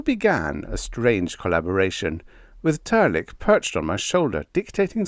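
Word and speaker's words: Trlk: It's Turk, pronounced Turk, and spelled T R L K.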